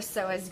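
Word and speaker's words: psoas: óleo so as group the P is silent I can see a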